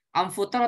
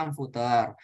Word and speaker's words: amfoter: Amfuter atau amfoter sama aja. Cara bacanya amfuter, tulisannya amfoter. Atau asal jangan Harry Potter.